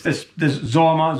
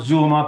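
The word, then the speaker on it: זוהמא: This Zoma, Zuma, people pronounce it differently.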